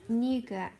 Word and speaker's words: nougat: You pronounce it nougat.